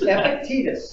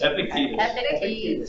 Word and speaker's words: Epictetus: Epictetus. Epictetus. Yeah. It's epic and it's not tedious.